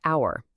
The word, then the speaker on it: hour: The word hour. It starts with an H, a consonant. But the H is silent.